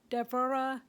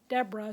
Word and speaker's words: Deborah: For example, I had mentioned Deborah, because that's actually the correct way to pronounce her name, but it got anglicized to Deborah.